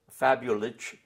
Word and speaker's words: Fabulich: be an SH sound so our name was fabulous with a see those fabulous who went to